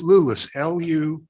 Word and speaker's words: Lulos: It rhymes with clueless. Clueless. Okay. It's Clueless. Lulis, LULOS.